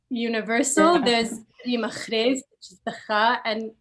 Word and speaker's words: Reema Khrais: Reema, it sounds weird to even say it right, Reema Khrais.